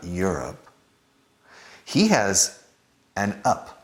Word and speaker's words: Europe: So, similar to Europe being my up, his up, her up, Europe, well, think of an O.